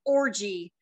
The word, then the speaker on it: orgy: There won't be one, and it's pronounced orgy. The G sound isn't hard, nor will anything else be at the party.